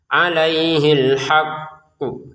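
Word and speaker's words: عليه الحق: Untuk kata "alhaqqu", kita membacanya dengan menekan "alhaq" terlebih dahulu lalu kita memantulkannya, "alaihil haqqu". Nah, jadi pantulan itu terjadi tepat setelah kita menekan. Jika Anda tidak menekan terlebih dahulu lalu memantulkan, itu salah.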